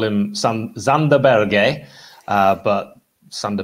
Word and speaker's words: Berge: I call him Sander Berge, but Sander Berger is what everyone else calls him. The reason I call him that is because that's how his name's actually pronounced.